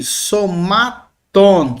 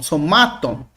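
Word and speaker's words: σωμάτων: Uma terminação longa, o on aqui, somaton, somaton. Observe que o acento que estava aqui na antepenúltima sílaba, por causa que a minha última é longa, o acento que estava aqui ele pula para cá, tá bom?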